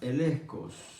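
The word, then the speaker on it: elegchos: Aunque se escribe elecchos, se pronuncia elecos.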